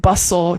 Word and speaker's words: bustle: a word where the T is just not pronounced at all. Like bustle, castle, thistle.